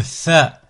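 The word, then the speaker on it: ث: Le tha. Là, c'est un peu plus compliqué. Vous devez mettre la langue au niveau entre les incisives centrales supérieures et centrales. Les incisives centrales supérieures et inférieures. Bon, on le verra par la suite. Tha, comme en anglais. The, tha.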